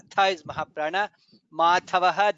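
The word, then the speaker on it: माधवः: In the second line lokabandhuhu dha is mahaprana, lokanathaha dha is mahaprana, madhavaha dha is mahaprana, bhaktavatsalaha bha is mahaprana.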